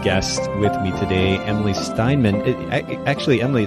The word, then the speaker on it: Steinmann: We were chatting before I hit the record button, and I didn't actually get confirmation about the pronunciation of your last name. Did I do okay? Yeah, totally.